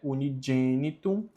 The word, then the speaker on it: unigenitum: Omnipotentes, sempiterno Deus, qui unigenitum, ó, o G com E tem som de G, unigenitum, filium tuum mundi, redemptorem constituisti ac eius sanguine placari voluisti.